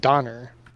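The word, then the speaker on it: döner: And it's pronounced Donner.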